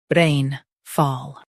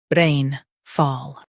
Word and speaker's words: rainfall: rain fall Now read the syllables shown on the screen naturally. rain fall rain fall Stress rain and keep fall light.